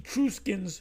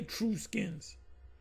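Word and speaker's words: Etruscans: Did the Itrusans rule Rome? I said it right. I didn't say Truskins.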